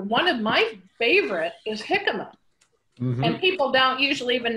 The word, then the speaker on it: jicama: if anybody is wondering jicama is not spelled with an h it's spelled with a j j i c a m a but we you know